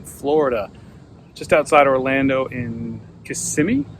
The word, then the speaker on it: Kissimmee: Hey comic fans, it's Jimmy the Geek Aficionado, and I am on location in Florida, just outside Orlando in Kissimmee, I believe is how it's pronounced.